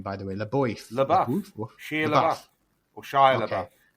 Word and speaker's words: LaBeouf: How do you pronounce his last name, by the way? LaBeouf.